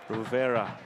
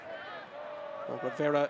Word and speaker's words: Rivera: about the yellow but wrong about the pronunciation of his name it sounds like rivera rivera since coming on has